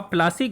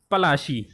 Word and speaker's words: पलाशी: प्लासी इज an anglicised pronunciation of पलाशी, एंड द प्लेस derived it's name from the पलाश tree known for its beautiful red flowers that yield gulal, the powder used in the festival of Holi। वास्तव में प्लासी जो है उसका exact नाम जो था, real name जो था वो पलाशी था, जिसे ब्रिटिशों ने उसको चेंज करके उसका प्रोनाउंसिएशन ख़राब करके क्या कर दिया था, प्लासी।